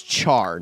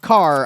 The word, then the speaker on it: char: pronouncing this incorrectly, but I believe it's char, not car.